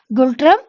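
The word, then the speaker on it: Ngultrum: భూటాన్ యొక్క capital and currency వచ్చేసి ఏమున్నాయండి, Those are Thimphu and the currency is Gultram. Here N is silent and Gultram.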